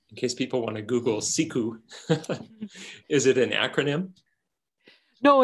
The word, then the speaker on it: siku: announcement of a social media sharing platform called siku which is now it's publicly available and something that you can just google and look up so siku is the inducted word for sea ice and